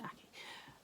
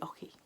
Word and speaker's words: Aki: was somebody else's, but she said Susan Aki rhymes with hockey.